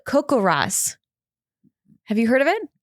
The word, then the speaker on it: CoCoRaHS: It's pronounced CoCoRaHS.